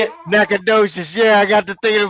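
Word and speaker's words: Natchitoches: docious no is that how you say it naad docious yeah I got to think about it like it's naad docious all right and then here's I guess your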